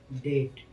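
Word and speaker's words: debt: नियम नंबर 1, जब किसी वर्ड में बी के बाद टी हो तो बी का उच्चारण नहीं होता है। जैसे डेट, डेट माने होता है क्या, ऋण।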